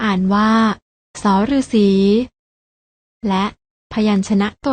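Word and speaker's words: ษ ฤๅษี: ที่ 2 อ่าน ว่า ส ฤาษี และ พยัญชนะ ตัว ที่ 3 อ่าน ว่า ส เสือ เห็น มั้ย คะ ว่า ทั้ง 3 ตัว นี้ อ่าน ออก เสียง ส เหมือน กัน น้อง ๆ ลอง อ่าน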